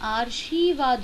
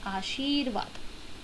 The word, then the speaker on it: आशीर्वाद: पहले सुनी जानी चाहिए तो यह तो असल में आर्शीवाद हो गया अ हुआ है ना सही आर्शीवाद हो गया इसका उच्चारण को जबकि हमारा शब्द और आशीर्वाद तो चलिए और एक